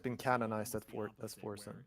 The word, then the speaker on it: Forsen: How do you pronounce Forsen? So that's Forsen.